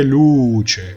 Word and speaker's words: luce: Que non c'è luce. 여기서 c'è 열고요. 루 할 때 루는 완전한 우 발음으로 입을 모아서 이렇게 어둡게 우 발음을 해주셔야 됩니다.